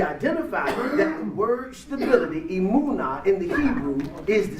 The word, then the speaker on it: emunah: In the Hebrew, the word for stability is emunah. Emunah is spelled E-M-U-W-N-A-H.